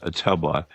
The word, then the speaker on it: Ottumwa: Oh, Ottumwa, Iowa. Ottumwa, Iowa. It's Ottumwa. Right. Okay. It's pronounced Ottumwa.